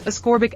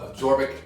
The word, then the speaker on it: ascorbic acid: My vitamin C, which is also absorbic acid. Did I say that right? I don't say it right. I'm going to do a mashup of you saying absorbic. Okay. It's ascorbic acid. Ascorbic. Is that right? Ascorbic? Yeah, ascorbic acid.